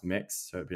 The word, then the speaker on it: Mx: the the gender neutral it's MX which is pronounced mix so it' be like mix Davies and um yeah